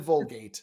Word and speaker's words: Vulgate: just want to Is it name them after Vulgat? toothpaste. What's that? Is it Vulgat? No, he said Vulgate.